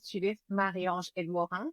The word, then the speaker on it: Judith Marie-Ange Edmorin: Yes, so my name is Judith Marie-Ange Edmorin. That's how I pronounce it.